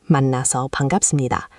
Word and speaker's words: 만나서 반갑습니다: The first is 만나서 반갑습니다, pronounced 만나서 반갑습니다.